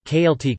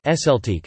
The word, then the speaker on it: Celtic: VE The Celtic languages usually pronounced, Kaeltiq, but sometimes, Eseltiq, are descended from Proto-Celtic, or Common Celtic, a branch of the greater Indo-European language family.